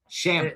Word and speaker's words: Shamet: Did I pronounce that right? Shamet? Shamet. Shamet.